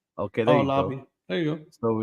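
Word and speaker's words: Laube: go see Bey says you pronounce his last name like Lobby okay there oh Lobby there you go so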